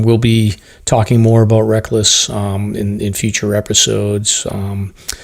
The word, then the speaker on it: Rek-Lis: on facebook and instagram if you just search reckless brewing it's spelled phonetically so it's rek lis got it and uh